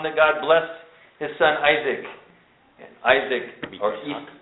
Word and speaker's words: Isaac: god blessed his son isaac and isaac isak is how it's pronounced dwelt in bear lahai